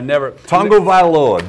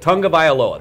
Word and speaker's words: Tagovailoa: Tagovailoa. B.A. That's it. Tagovailoa.